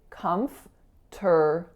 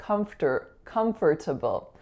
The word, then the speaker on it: comfortable: being produced here but most native speakers are going to reduce and say comforable comfortable I do hear most often from many of my clients this word being produced with additional syllables like comfor comfortable and while some native speakers produce this with four syllables it's much more rare than just hearing it as three the next word is